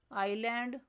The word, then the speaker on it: island: Next silent letter is S. For example, island, debris, aisle.